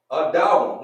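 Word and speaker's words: אדם: One, adawam, which means red, right? Sounds kind of like Adam, right?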